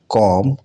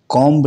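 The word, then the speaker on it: comb: कॉम, कॉम्ब नहीं पढ़ा जाना चाहिए।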